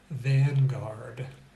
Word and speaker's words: vanguard: Vanguard. It's not, I don't think I can even say vanguard with the NG combination. The N and the G are both pronounced separately there.